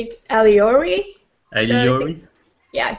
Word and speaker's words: Alyore: of your agent name oh okay did I pronounce it more or less correct yeah I kind of say it alori iori yes it's close enough okay uh yeah